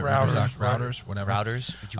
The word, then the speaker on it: Reuters: So apparently it says routers. Everybody knows routers, right? Routers, whatever. Routers? You called it a router? Writers. Well, I mean, REUTERS.